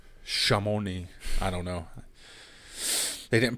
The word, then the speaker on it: Chamonix: sport what is it my mom said it's pronounced shamoni chamonix i don't know they